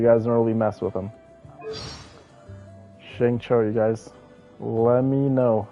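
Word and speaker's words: Xingqiu: Um, you pronounce his name uh Shingcho, by the way.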